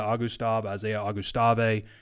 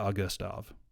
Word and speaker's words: Augustave: So the way to think about this is Augusta National and add a V. Augustave.